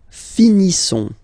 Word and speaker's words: finissons: Nous finissons. Okay, ISSONS. Ils sont. Nous finissons. Finissons. Okay, final S not pronounced. Nous finissons.